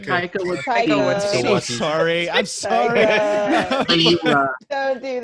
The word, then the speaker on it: Taika: Takiti, how the hell do you say his name? Taika.